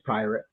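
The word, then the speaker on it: Pyrate: pirate pie pirate queen does anybody even know how to how to pronounce this decor right away pie rat or pirate or puree it's p-y-r-a-t-e pyramid it's being funny it's pirate it's i don't know why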